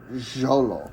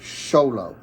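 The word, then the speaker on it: Xolo: Miguel and cobai cholo is not cholo it's Zolo Jolo that makes sense sh no it's sholo show them okay yeah like the X yeah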